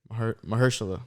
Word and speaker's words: Mahershala: Like the name or Mashallah Ali? Yeah, Mashallah Ali. Yeah, right. I promise. Yeah, that's him. I don't know how to pronounce his first name. Yeah, Mashallah Ali. Is he playing Blade? Mahershala.